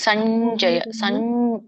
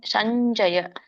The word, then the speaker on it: ಸಂಜಯ: 46ನೇ ಶ್ಲೋಕ ಸಂಜವಾ ನೋಡಿ ಇಲ್ಲಿ ಸಂಜಯ ಹೆಂಗೆ ಬರೆದಿದ್ದಾರೆ ನೋಡಿ ನಾವು ಹೇಗೆ ಬರೀತೇವೆ ಸ ಬರೆದು ಸೊನ್ನೆ ಬರೆದು ಜ ಬರೆದು ಯ ಬರೀತೇವೆ ಇಲ್ಲಿ ಸಂಜಯ ಸಂಜಯ ಅಂಚೋ ಇಂಚು ಮಿಂಚೋ ಇವೇನು ಬರುತ್ತಲ್ಲ ಇದಕ್ಕೆಲ್ಲ ಹಿಂಗೆ ಬರುತ್ತೆ ಸೊನ್ನೆ